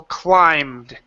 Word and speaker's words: climbed: for the el cole climbed climb okay now don't pronounce this be or the e it's climb de climent lined there you go